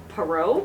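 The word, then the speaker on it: Poirot: bye parro all right this is pronounced parro pyro this is an agath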